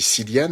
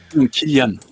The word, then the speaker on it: Cillian: 28 jours plus tard, j'ai dit Cillian, et il y a des gens qui m'ont repris en me disant non, en fait, ça se prononce, je sais pas comment, bon, bref. Killian. Oui, c'est ça, voilà, c'est ça.